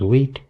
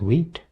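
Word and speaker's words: Vite: First, you can see it is using wheat here and this is pronounced wheat. Even though it looks like white, but it is pronounced as wheat.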